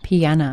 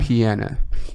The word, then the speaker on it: Piana: Piana. Piana.